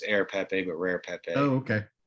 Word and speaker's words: Rare Pepe: that way because the the r really is silent it's air pepe but rare pepe oh